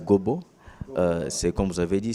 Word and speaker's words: Gobo: Je vais corriger ce que vous dites, c'est Gobo, c'est pas Gombo. Ah, ok, ouais. La prononciation des noms n'est pas... Ngombo, c'est mon vieux Jean-Pierre Bemba Gombo. Oui, ok, Gombo, voilà. Oui, moi, il faut enlever le M au milieu. Moi, c'est Gobo.